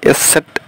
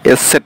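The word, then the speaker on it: Eszett: হ্যাঁ আর তারপরে যে এস সেট, এটা আছে, এটাকে বলা হয় এসসেট, বিটার মতো দেখতে, এর উচ্চারণ হলো এসসেট।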